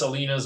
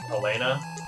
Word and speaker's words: Alina: Yes, her name's pronounced Alina. Someone found her Japanese name for me, and it is spelled Arina. It was kind of funny because I pulled this weird kind of anachronism where I kept pronouncing her name like Elena, thinking, you know, reading